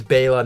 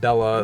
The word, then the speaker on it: Bela: And it's Bela, not Bella, like most people say.